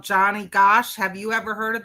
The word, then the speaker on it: Gosch: It's Johnny Gosh is spelled Gosch.